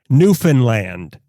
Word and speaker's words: Newfoundland: because this one is not quite a local shop, but it's a hyper-local company too, and we looked up how to pronounce this properly, Newfoundland.